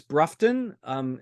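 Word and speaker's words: Broughton: I'm going to call it, say, Bruce Brufton. Is that Yes. how you pronounce it?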